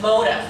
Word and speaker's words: Motah: It's called MODA. It's pronounced MODA for motivate.